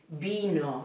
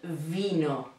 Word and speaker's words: vino: The letter V in Spanish should be pronounced as the letter B. The sound is the same in the Spanish B, because in English it's more explosive, but in Spanish it's soft. So it's B, vino, not vino, vino, vino, okay?